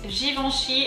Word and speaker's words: Givenchy: and start with givenchy so here it's fairly easy still i would say there's a little of a complication in the e n sound but other than that it really shouldn't be too bad um so let's go